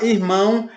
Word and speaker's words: irmão: uma vez que a palavra irmão ela ela tem uma tonalidade mais forte no primeiro daí vocês percebem que na palavra irmão a letra A Ele fica mais presente ele fica mais forte é em ponto ó